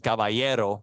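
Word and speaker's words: caballero: and not no kabo means horse horse and cavayero cavayo that's correct good great pronunciation there I can if if I hear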